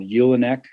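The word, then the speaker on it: julenek: bundled together and they're called eulanek it's spelled j u l and and we sell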